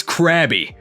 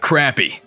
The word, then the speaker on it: Krabby: enemies with this thing make sure to pronounce it right it's crabby not crappy baltorb the poster child